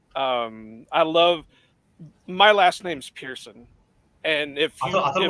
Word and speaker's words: Pearson: But when I tell people how how we pronounce it, it's Pearson. They always want to spell it Pierson. Well, that's not it. It's Pearson.